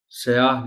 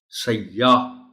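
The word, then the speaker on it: سیّاح: نہیں ہے۔ جانب، سیاح، یہ پر شد ہے، سیاح نہیں بول سکتے، سیاح تو پھر ہو جائے گا بلیک۔ سیاح۔ دیودار، دیو ہے، دیودار۔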